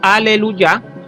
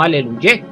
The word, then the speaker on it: aleluya: Por consiguiente, como es muy conocido universalmente, decimos aleluya y no aleluyé, porque aquí la yod y la hei están al final de la palabra.